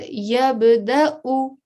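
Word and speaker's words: يبدأ: So when I was reading this example, I said yabda'u. So I pronounced the Hamza and the Dhamma by saying u at the end, but the vowel had no sort of influence on my recitation.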